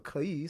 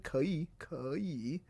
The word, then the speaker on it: 可以: So she definitely corrected my 可以, 可以. So 可以, so I can translate that. I can work on that. It gives me a pronunciation correction. 可以,可以.